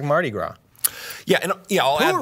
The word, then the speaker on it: Mardi Gras: Mardi Gras is another. That is the correct pronunciation.